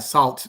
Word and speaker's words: salt: Es que si les cuesta trabajo pronunciar sal, si no les entienden, es porque no están pronunciando la T al final. En español las palabras no terminan con T y por eso se les hace difícil, pero tienen que pronunciar ese T. Salt, salt. No puede ser sal, no puede ser sal como en español. Tiene que ser salt, tiene que ser salt.